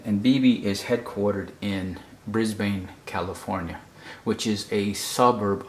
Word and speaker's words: Brisbane: can tell here from the headquarters being in Brisbane that this is not New York the the